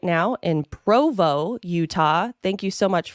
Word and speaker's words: Provo: and were like it's Provo not proo it's been hard for me to change it and I've actually been criticized for that they're like somebody who doesn't know how to read Provo right or saying it wrong they obviously don't know